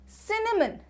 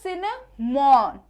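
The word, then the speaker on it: cinnamon: में कहते हैं क्या सिनेमन सिनेमन ठीक है अब यहां पे देखो लिखा हुआ है क्या सिनेमोन सिनेमोन ठीक है तो यहां पे हम इसको क्या पढ़ेंगे सिनेमन सिनेमन next one इज इलायची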